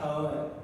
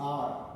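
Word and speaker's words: hour: यहाँ पर आता है हावर, इट्स नॉट हावर, clear, it's आर। ठीक, 1 आर 2 आर बोलते हैं ना, उसी प्रकार से ये ओ उच्चारण होता है, तो वो भी आता है हमारा वॉवेल साउंड में।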